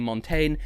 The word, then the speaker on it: Montaigne: as she's better known by her stage name montane see i can pronounce it properly and the song technicolor now